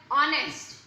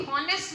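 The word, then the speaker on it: honest: जैसे हमने इसके बारे में पढ़ा कि चाहे यहाँ पर लिखा हुआ है ऑनेस्ट, हम इसको कभी भी हॉनेस्ट नहीं पढ़ते। यहाँ पर एच की ध्वनि हमेशा साइलेंट रहती है।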